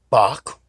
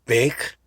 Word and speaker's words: Bache: It was called the American Aurora, or General Advertiser, founded by Benjamin Franklin Bach, or Bach, whichever way you like to pronounce it. There were several different ways of saying it, and William Duane, and the newspaper was started in 1794.